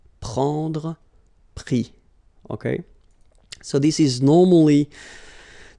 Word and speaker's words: pris: Pris, okay. Same thing here, you don't pronounce the final s, okay.